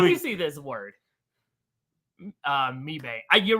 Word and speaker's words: Mebane: We're coming to you live from Mebane, North Carolina. and this Let week, me see this word. Mebane.